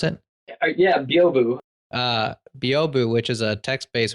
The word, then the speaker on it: Byobu: Is that how you pronounce it? Yeah, Byobu.